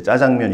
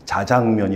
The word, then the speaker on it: 자장면: 때 국어 지문에 그 저희는 이제 짜장면 이렇게 읽었는데 그 해 주시는 국어 선생님이 자장면 이렇게 정확하게 발음을 해 주셨는데 그때 기억이 어 많이